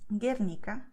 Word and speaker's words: Guernica: And in this combination GUE, GUI, the letter U is written, but it's not spoken, okay? So you don't have this sound.